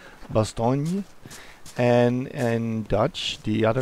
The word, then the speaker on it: Bastogne: town in the Arden it's the French name actually it's in French it's pronounced Bastogne and and Dutch the